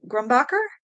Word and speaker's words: Grumbacher: Gumb gum grumbacher.